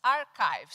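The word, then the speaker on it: arXiv: Ele chama-se Archive, se escreve archive.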